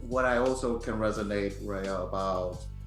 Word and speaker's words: Raya: Raya. Yeah, Raya. Like Okay, a ray of got it.